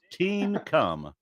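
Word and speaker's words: Teancum: Yankovic his name was team come it is pronounced appropriately tea and come okay most people use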